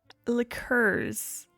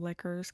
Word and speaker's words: liqueurs: Liqueurs. I'm just so used to hearing people call them liquors because they don't want to pronounce it the French way.